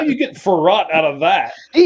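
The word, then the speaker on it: Frerotte: Farat. Gus. Farat. Oh, Farat. How do you get farat out of that?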